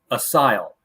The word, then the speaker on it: ASYL: the title here and that allowed me to learn how to pronounce it which was asile I've never heard that word before I've heard of Asylum but well it's the German it's the German word for Asylum oh okay so it's